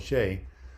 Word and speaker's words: Shay: Man, it's pronounced like it's spelled, Shay.